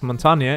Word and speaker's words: Montagne: for those wondering yes Montana is the way you pronounce it in French it means Mountain which